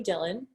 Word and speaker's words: Dhillon: First of all, connect with me on the Instagram at Dillon, JoaniedDhillon, silent H. I don't know when my parents decided that. Somehow it got stuck there. So silent H in my name, and connect with me there.